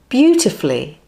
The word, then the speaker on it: beautifully: Then flee, beautifully. Put it all together, beautifully, and put the stress on the first syllable.